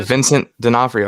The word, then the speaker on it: Vincent D'Onofrio: netflix yeah daredevil yeah vincent d'onofrio i think is how you pronounce his name he's rumored to be